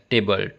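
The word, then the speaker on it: Theobald: He then damps by praising Dubald pronounced and often spelled table and Bentley.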